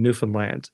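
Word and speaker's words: Newfoundland: Finland properly um so Americans had trouble with the where the syllable emphasis is in newfinland we always say if you want to know how to say it just say understand New Finland and there you go oh okay so um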